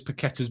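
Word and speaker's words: Paquetá: there you go maybe no it doesn't have an accent on the sea so it's i assume it's a hard season there you go um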